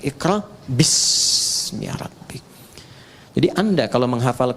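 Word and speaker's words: بِاسْمِ: Itulah sebabnya ketika walaupun di sini ada alifnya, tetap dibacanya cepat dan pendek. Iqra bismi rabbik.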